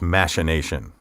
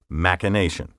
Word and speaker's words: machination: some dictionaries now recognize machination but listed after the preferred pronunciation in which the ch is pronounced like k machination word 28 docile d-o-c-i-l-e